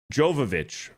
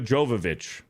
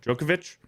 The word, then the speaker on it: Jovovich: Um, Jovovich. Mila Jovovich. That's what I was saying, right? Mila Jovovich. What was I saying? Djokovic.